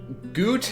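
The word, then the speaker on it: Goethe: I'm tired of getting these names wrong so gute and I'm very sorry that I keep butchering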